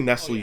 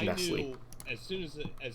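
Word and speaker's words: Nestlé: two very different things to me I say Nestle is Nestle because there's an accent on the fact I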